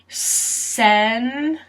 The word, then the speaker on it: senators: Senators. This is another case where we pronounce the C or the T as a D, and the O sounds like a U.